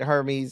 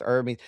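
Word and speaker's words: Hermès: Oh, it's not pronounced like the Greek god Hermes. It's pronounced Hermes.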